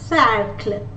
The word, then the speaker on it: cercle: So when the letter C follows any of these 3 letters, E, I or Y, the sound is S. Cercle.